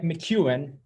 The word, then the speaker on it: McKeown: I have here with me Greg McKeown.